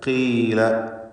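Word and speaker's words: قِيلَ: ഇസ്തിഅലാഇൻ്റെ ഹർഫുകൾക്ക് കസ്റ് വരുമ്പോൾ കുറഞ്ഞ തഫ്ഖീം കൊടുക്കണമെന്നാണല്ലോ നാം മനസ്സിലാക്കിയത്. ആ അടിസ്ഥാനത്തിൽ ഇവിടെ ഖീല എന്ന് ഉച്ചരിക്കുക.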